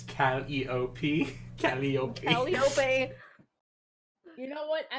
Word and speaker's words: Calliope: Actually, it's pronounced Calliope. Oh my god. Yes, pronounced Someone- Calliope. No, I'm gonna say choose my Calliope. remaining half brain cell. I got it. Actually, it's Calliope.